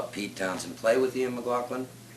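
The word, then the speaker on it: McLagan: We saw Pete Townsend play with Ian McLaughlin. Is that how you pronounce his last name? That's exactly how you pronounce it.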